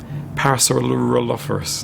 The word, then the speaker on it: Parasaurolophus: be complex to animate and even harder to pronounce parasaur lus parasaur lus parasaur lus parasaur lopus parasaur parasor paraso parasor Parasaurolophus no Parasaurolophus no it's not in my program